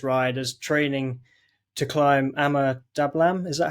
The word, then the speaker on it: Ama Dablam: you use this ride as training to climb Ama Dablam. Is that how you pronounce the?